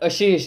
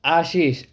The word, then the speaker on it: Ashish: It's not Ashish, it's Ashish. Ashish.